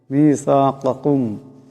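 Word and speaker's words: ميثاقكم: মিসাকাকুম, এখানে প্রথম কাপ বড় কাপ, পরেরটা ছোট কাপ।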